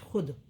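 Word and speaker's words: خود: इसे वाव के नीचे छोटी रेखा लगाकर व्यक्त किया जाता है, मतलब उच्चारण में नहीं आता। खे वाव शीन पेश खुश, खे वाव दाल पेश खुद।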